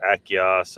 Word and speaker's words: Achaeos: You know, with scientific names, you pronounce the third, you emphasize the third syllable from the end. So Achaeos, they were like talking about Denosovans over there.